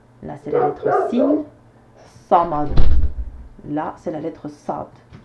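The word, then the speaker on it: صمد: Alors attention, j'ai pas dit Samad, j'ai dit Samad. Notez bien la différence. Samad, là c'est la lettre sin Samad.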